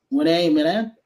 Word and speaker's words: Rena Mena: And so if I get your name wrong, I'm not good with names to begin with. Renee, Mena, if that's correctly, Hey, you got it.